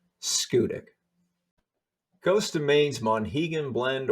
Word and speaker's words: Schoodic: And don't worry about the name. Nobody outside of Maine pronounces it correctly. Schoodic.